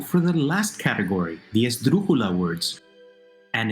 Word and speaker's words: esdrújula: Esdrújula, the word itself. Third from last, it needs a written accent.